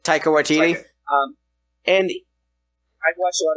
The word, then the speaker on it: Waititi: How do you pronounce the name? Waititi? Taika Waititi.